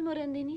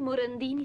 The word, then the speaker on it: Morandini: Per voi Morandini senza l'accento. Io lo accento perché mi piace di più alla francese e anche perché non ho una grande stima di mio padre.